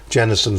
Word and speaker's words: Jennison: by nature I want to make certain I'm pronouncing your surname correctly is it Jennison or Jensen Jenison Jennison so to Jennison leaders by nature is the